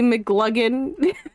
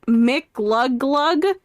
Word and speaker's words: McGlugglug: It's pronounced McGlugglug. Well, it doesn't tell me McGlugglug. It's McGlug... Oh, yeah, it is McGlugglug.